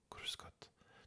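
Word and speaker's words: Grüß Gott: donc si tu entends cruscot tu peux répondre cruscotte bien cruscotte le r rouler ou le r râé si je puis dire lui n'a pas d'importance c'est vraiment un accent donc dans le sud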